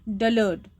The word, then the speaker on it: dullard: So here when you pronounce this word dullard, R is silent, dullard.